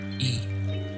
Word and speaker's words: y: The word for and in Spanish is y, written as a Y, and the sound is simply E.